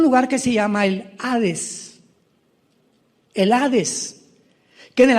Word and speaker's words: Hades: la palabra Seol con Hades con h que muchos dicen jares se puede pronunciar así porque es en el griego y Cristo cuando él